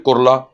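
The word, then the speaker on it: Kurla: छोटा सा एरिया था जिसको लोग कहते हैं कुर्ला ना कुर्ला आज के स्पेलिंग अलग है ब्रिटिशर्स के जमाने में इसको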